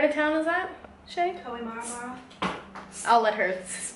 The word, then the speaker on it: Kohimarama: Kohimarama. I'll let her pronounce everything because I'm going to be terrible at it.